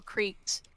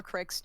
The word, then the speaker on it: creek: They thought like streams and stuff were like little creeks, or cricks, depending on how you pronounce it, were rivers.